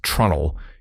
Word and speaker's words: treenail: A treenail, pronounced trunnel, is a wooden peg used as a fastener.